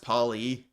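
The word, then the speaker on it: Poilievre: His name is pronounced Paulie. Paul E.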